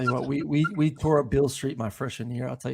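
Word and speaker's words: Beale Street: It's spelled like Robert Beal with an E on the end. But yeah, Bill Street's like a Bourbon Street, but like just a little smaller and a little sketchier.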